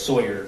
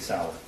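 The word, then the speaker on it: Sauer: mentions the six sour he mispronounced sour as Sawyer which if you purchase that firearm and it was for yourself you'd be familiar with how to say Sig Sal okay and I I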